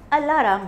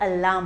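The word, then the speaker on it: alarm: क्यों कहा क्योंकि यहां बहुत से बच्चे इसको अल्ला राम बोलते हैं ये अल्लाह और राम दोनों साथ में नहीं होता ये अलाम होता है तो मेक श्यर कि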